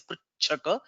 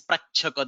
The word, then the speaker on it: प्रच्छक: So by slip of tongue or by some misunderstanding or something, I've heard many people saying this inadvertently or inadvertently as pritchaka because it resonates with pritchati. So the correct pronunciation is prachaka.